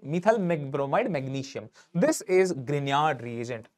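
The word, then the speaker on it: Grignard: bromide magnesium this is grard reagent do not call it Gard please g is silent grard reagent you'll be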